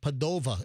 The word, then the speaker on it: Padova: So, the University of Padawa, I think also they pronounced that Padova as well.